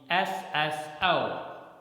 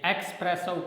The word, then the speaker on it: espresso: Okay, the next one, Espresso, and generally we speak it as espresso. When we are talking about this type of coffee, then we say espresso coffee, but it's wrong. The correct pronunciation is espresso. Here, xo, the sound xo is silent. Espresso.